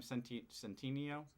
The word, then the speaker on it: Centineo: you say his name centineo that's mayo or something centineo there you go if he's still